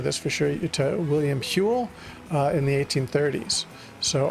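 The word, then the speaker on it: Whewell: William we well Hule William Hule is how you pronounced it.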